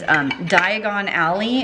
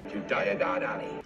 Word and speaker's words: Diagon Alley: And who here knows, this is so obvious, everybody probably knows this, is Diagon Alley in Harry Potter is actually just diagonally. Diagonally? Diagon Alley.